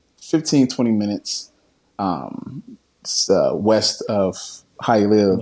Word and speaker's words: Hialeah: You're from, correct me with pronunciation here, Hialeah Gardens. Is that how you say it? Yeah, it's Hialeah. Hialeah.